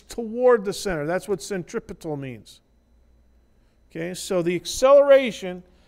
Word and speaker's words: centripetal: called the centripetal acceleration spell it correctly cen t r.i.p et al centripetal do not say centrifugal because the direction of this is towards the center and you're gonna have